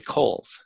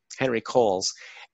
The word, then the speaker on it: Henry Coles: this history, is Henry Coles. It's pronounced Coles. You might look at it with the W, but Henry Coles.